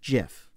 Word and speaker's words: GIF: this guy said you can pronounce it GIF.